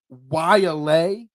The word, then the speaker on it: Waialae: As you phonetically spelled out for me before the show, Waialae Country Club in Honolulu. Not how it's spelled, but that's how it says.